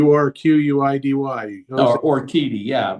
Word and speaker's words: Urquidy: They've got to move on from Jose I'm not even sure how you pronounce Urquidy. It's unlike you with pronunciations, apparently, now. Y O U R Q U I D Y.